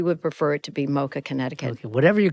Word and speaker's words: MoCA Connecticut: Well, we would like it to be MoCA Connecticut. Okay. Unfortunately, everyone likes to, give these abbreviations to it. So we end up being MoCA CT, but we would prefer it to be MoCA Connecticut.